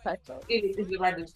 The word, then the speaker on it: Pato: Is right the pronunciation? Pato? Pato.